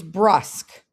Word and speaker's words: brusque: The next word is brusk. If you look at the spelling, it is not how we would probably spell it. The way they've given you the pronunciation spelling seems to make a little bit more sense.